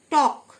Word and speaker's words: talk: টক, TALK, টক, মানে কথা বলা, এল silent. Should, SHOULD, L silent, should, মানে করা উচিত।